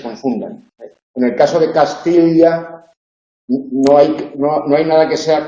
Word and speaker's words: Castilla: Sí, Castilla. Castilla. Ahí estaría pronunciando cómo se pronunciaría originalmente la doble L.